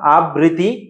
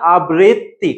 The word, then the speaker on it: আবৃত্তি: তাহলে উচ্চারণটা কি হবে বলতো? কবিতা আবৃত্তি। কবিতা আবৃত্তি। এটা দেখ এইযে কবিতা আবৃত্তি। তাহলে তত তত আছে ততই মানে কি? এখানে বলতো দুইটা ত আছে। কয়টা? দুইটা। তাহলে দেখ এখানে কয়টা আছে? দুইটা। কবিতা আবৃত্তি।